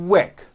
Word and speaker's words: quick: for example the word quick is pronounced with a k and a strong W sound KO quick like that repeat some